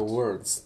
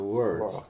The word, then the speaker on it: words: Только words. По произношению это и не о, и не ё, да, это ж не words, это words, как немецкое ну, если вдруг там где-то приходилось, words, попробуй, words.